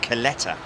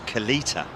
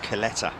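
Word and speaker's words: Kalitta: interesting also to note that it it is pronounced coletta isn't it not kalita at least that's the way they pronounce it over there even though it's spelt k-a-l-i-t-a but it is pronounced coletta who was it that mentioned it the other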